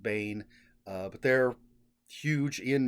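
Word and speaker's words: Baen: by the same publisher which is Bane B aen I've always pronounced it Bane uh but they're huge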